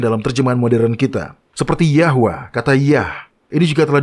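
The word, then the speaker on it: Yahweh: dan menemukan arti aslinya sekarang jhova atau seperti yang kita ketahui pengucapan yang benar adalah yahwa memiliki nomor referensi sendiri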